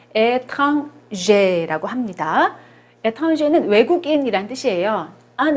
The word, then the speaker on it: étranger: 요거는 발음을 étranger라고 합니다.